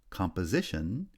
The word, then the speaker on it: composition: the third syllable ambiguity compose has stress on the second syllable but composition receives secondary stress on the first syllable and primary stress on the third syllable continent stress on the